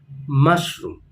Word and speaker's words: mushroom: is called mushroom mushroom so again the stress is on the first part of the word mushroom the next vegetable